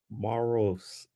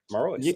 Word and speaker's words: Marois: Marois.